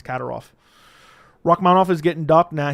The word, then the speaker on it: Kadyrov: I used to say Kadyrov, but it's Kadyrov.